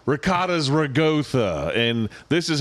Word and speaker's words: ricotta: But if you're like, it's ricotta... It's fucking not ragotha, bitch. There's not a G.